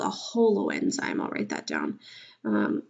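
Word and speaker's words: holoenzyme: o L Holo enzyme I kind of think of it as like whole enzyme but it's spelled different but still Holo enzyme a Holo enzyme is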